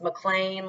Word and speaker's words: McLean: It's pronounced McLean, like, I don't know, rhymes with plain.